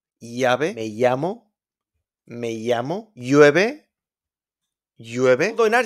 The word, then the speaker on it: llave: We got the double L in Spanish, don't pronounce it like an L. Normal sound is Y, like yellow, yes, llave, llave, me llamo, llueve, llueve.